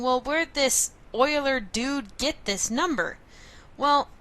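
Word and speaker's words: Euler: is what's known as Oiler number and that's how you pronounce it kind of sounds like Oilers Oilers number now Oiler number is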